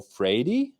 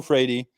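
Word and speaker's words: Freire: a different way but i'm pronouncing this person's name as paulo freidy so again the d is like a really really nice portuguese rolled r so paolo frady um if you're familiar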